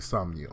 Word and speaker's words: Somnium: Now they tell me Somnium.